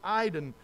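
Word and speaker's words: εἶδον: And the word see is eidon, A-I-D-E-N, but it's pronounced eidon.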